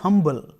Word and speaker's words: humble: accent he says that he's humble and here the H is not silent he pronounced it and shows that he's